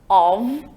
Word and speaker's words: of: Fica bem ligadinho que a palavra of, O-F, ela tem pronúncia de V. Esse F, na língua inglesa aí do of, a gente tem como off quando a gente escreve, tá? Para a gente lembrar. Mas quando a gente pronuncia, a pronúncia aí é o som de V. Of.